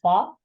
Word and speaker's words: froid: With a silent D and a silent T at fait and froid.